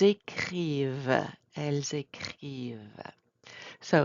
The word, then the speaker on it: écrivent: Are we pronouncing the ENT? No. Ils écrivent, elles écrivent.